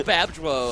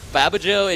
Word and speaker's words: Babjo: I think it's Babjo, I think, because Babajo, it doesn't have 2 A's, so I think that is my mispronunciation.